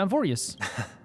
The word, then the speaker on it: Amphoreus: We're going to Amphorius.